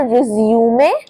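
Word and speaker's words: résumé: इसे बोलते हैं रिज्यूमे। रिज्यूुमे या फिर रिज्यूम भी बोलते हैं। दोनों प्रोनंसिएशन सही है बट मीनिंग डिफरेंट है।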